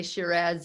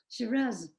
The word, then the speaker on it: Shiraz: yeah so yeah um that's interesting the different pronunciations yes so we we would definitely we would definitely say shiraz in english shiraz yes so i i always i always find